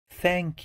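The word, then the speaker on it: ث: So this sound, the sound of this letter, it sounds like the TH in the word thank you. You must touch your tongue with your upper teeth in order to pronounce it.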